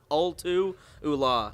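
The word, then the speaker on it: Ultu Ulla: it is um Ian how do you properly say it it's all to hula if I'm not mistaken very nice yeah man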